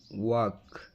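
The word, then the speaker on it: walk: ಅದಕ್ಕೆ ಬ್ರಾಕೆಟ್ ಅಲ್ಲಿ ಕನ್ನಡದಲ್ಲಿ ಕೂಡ ಹಾಕಿದೀನಿ ಯಾವ ರೀತಿ ಉಚ್ಚಾರಣೆ ಮಾಡಬೇಕು ಅಂತ ಹೇಳಿ ನಡೆದಾಡು ವಾಕ್ ವಾಕ್ ಜನಸಮೂಹ ಫೋಕ್ ಫೋಕ್ ಮಾತು ಟಾಕ್ ಟಾಕ್ ಇರಬೇಕು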